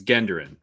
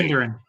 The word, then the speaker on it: Genderen: It's Genderen. Hard G. Genderen. Okay.